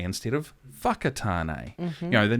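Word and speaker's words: Whakatāne: certain names so taupo instead of Topo um wakatane instead of whakatane you know the names were there but they were still pronounced incorrectly nowadays I think we're a lot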